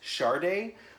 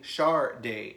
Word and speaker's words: Sade: their solo artist and I also think that her name is pronounced Sharda which on the US hype stickers it show with the pronunciation as a sticker saying Shar day so I understand why there's confusion because even the record label was marketing her as Sharda so either way so